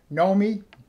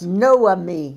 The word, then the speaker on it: Nomi: And the first show is a I think a superb show because we have Nomi. That's how you say it. Yes. No me.